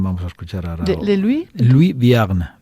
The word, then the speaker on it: Vierne: a escuchar ahora Luis Viagn V es como viernes pero sin la sgn.